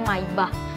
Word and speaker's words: Maybach: daimler dan wilhelm maybach aslinya tulisannya May gitu Tapi bacanya maibah mereka memanfaatkan bensin sebagai